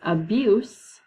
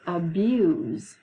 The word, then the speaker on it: abuse: Because even though the word is spelled exactly the same, it's not the syllable that changes. It's the sound that the S makes. Okay, the first one is abuse. The second one is abuse.